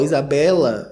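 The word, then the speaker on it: Isabella: muito basiquinha né Isabela você sabia que quando tem dois eles Isso é do latim tá ou duas vogais an Isabela a gente delonga mais a sílaba aqui ó Isabela é a única que traz uma repetição de vogais que não é natural do português que eu vou passar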